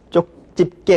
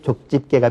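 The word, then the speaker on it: 족집게: 그다음에 어 뭐 쭈꾸미 안주로 많이 쓰는 뭐 쪽집개 같은 경우도 역시 족집개가 표준니까 그렇게 쓰고 또 그렇게 발음을 해야 되겠습니다.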